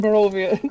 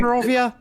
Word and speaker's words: Barovia: Barovia? Or West Barovia? You pronounce your V's.